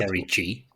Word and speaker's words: Serie C: Did you say Like what- Serie G? Yes. Is that the like Primavera now or something? What am I missing? I mean Serie C, but it's like pronounced G.